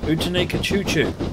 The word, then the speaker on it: Outeniqua Choo: Outeniqua Choo is how you pronounce it, as far as I recall from talking to the author. It's meant to be a play on Chattanooga Choo, I think.